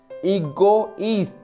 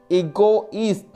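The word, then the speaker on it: égoïste: For example, egoist, egoist, ego that is separately pronounced, and east that is separately pronounced.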